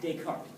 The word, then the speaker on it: Descartes: It looks like Descartes for those of us in the East Texas. Those French are crazy to say it Descartes, all right? So it's Rene Descartes.